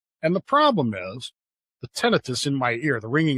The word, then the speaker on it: tinnitus: So my entire life I've been pronouncing this tinnitus. Do you know that's incorrect? It's tinnitus. I've looked it up back and forth, and it said it can be pronounced both ways, but the technical way is tinnitus.